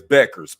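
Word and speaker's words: Bueckers: I was saying Buers, but it's Beckers.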